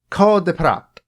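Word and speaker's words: Cœur de pirate: by her stage name, Code de Prat. That's how she pronounces it in the video that I watched. I'm going to trust her to pronounce her own name.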